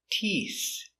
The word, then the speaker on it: teeth: five t e t teeth teeth so remember we start with a t sound with our tongue inside TT and we finish with the th with the tongue touching the teeth making the air so inside t t